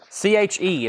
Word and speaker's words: Che: Che, or Shay? Somebody said Che. C-H-E, it's pronounced Che, evidently.